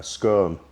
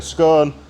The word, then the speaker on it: scone: a chuna sandwich I a skone a scone how do you say it a scone we say in scone in Yorkshire so I had a scone half with butter and